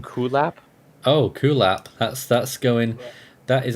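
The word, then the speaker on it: Kulap: the Western Pacific we have how do you pronounce this name cool app oh cool app that's that's going that is actually probably the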